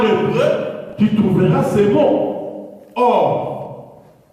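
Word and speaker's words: אור: Or. En hébreu, c'est prononcé or.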